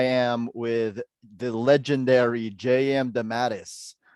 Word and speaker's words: DeMatteis: My father always used to say, it's really DeMatteis. And so finally, I don't know, some years ago, I said, if that's what it really is, that's the way I'm going to pronounce it. All right. But I Cool. accept both. I just thought I'd be, super accurate. But I accept both.